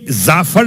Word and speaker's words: جعفر: خیر, بات ہو رہی تھی کہ یہ زعفر لفظ ہے یا جعفر؟ اصل لفظ جعفر ہے, جعفر کا تلفظ ہے زعفر.